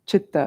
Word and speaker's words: chitta: mind in Sanskrit is chitta c-i-t-t-a chitta it's like an unaspirated chitta can you say like